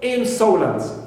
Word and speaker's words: insolent: Difficult, D also here, the first syllable in this adjective is stressed, and also insolent, so in is my first syllable and it is stressed.